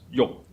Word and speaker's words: 欲: In Cantonese and Middle Chinese, it's pronounced as yok.